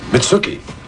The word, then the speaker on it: Mitsuki: Mitsuki. Rhymes with nookie.